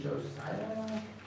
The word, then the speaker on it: Josiah: We also, I want to read for you a piece in 2 Kings 22 of King Josiah. How do you pronounce it again?